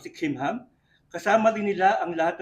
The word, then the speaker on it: Kimham: Marami ako narinig na mga pastor na sasabi nila, yung pronunciation nun ay Kimham. Dahil yung Jewish na background nila.